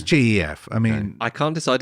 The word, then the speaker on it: Gef: it is then jeff jeff spelled with a g let's not get silly here oh yeah it was gef i mean i can't